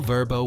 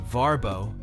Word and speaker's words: Vrbo: Consolidated into a single verbo website the choice to rename it verbo from the ab ration varbo was rooted in research aiming for a name easier to remember and pronounce globally this transformative Journey positioned verbo